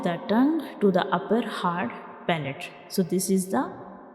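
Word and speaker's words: ه: Our next letter is ha, ha. So this is the shape of ha, and ha is a throat letter and it is pronounced from the bottom of the throat.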